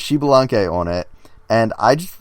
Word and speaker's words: Xbalanque: I would guess Xbalanque. Very close. Xbalanque. What? Are you missing a letter? No, that's how it's spelled. Are you sure there's not an XI like that? Yes, I'm sure. It's Mayan.